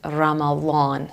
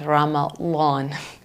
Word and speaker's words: Ramadan: month when Muslims fast they would pronounce it Ramadan so it's not completely it's Ramadan sorry Arabs if I'm